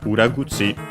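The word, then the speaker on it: 裏: and then we have Uragi Uragi is a compound noun which uh from uh ura. We've seen it funny enough in this very uh game. Ura on its own accent on the last syllable uh technically means uh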